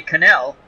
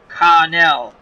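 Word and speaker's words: Kahnle: I have no clue how to pronounce his last name. We're going to say Cannell. K-A-H-N-L-E. Connell.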